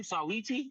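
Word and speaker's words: Saweetie: Sawiti.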